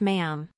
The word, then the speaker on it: ma'am: your majesty after that it's just ma'am rhymes with ham Sarah declined to condemn